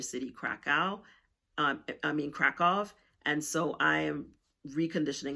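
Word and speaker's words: Kraków: Um and I have a friend that lives in Kov, Poland. Some people call it Kkow, but the correct pronunciation is Kov. That is how Polish people um pronounce it.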